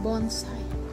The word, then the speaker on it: bonsai: Asian ancestry ancestry to travel in space Bonsai pronounced Bonsai is a tree in a container as old